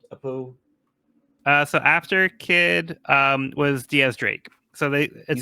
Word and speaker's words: X Drake: Yeah, so it's spelled like X Drake, but it's pronounced like Diaz, like 10 in Spanish.